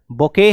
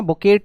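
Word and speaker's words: bouquet: सभी लोग ठीक है बोके है बोके है बोके है बोके है बोके बोलते है ना बकेट नहीं बोलते इसको जिसमें टी साइलेंट होता है तो बोके बोलते हैं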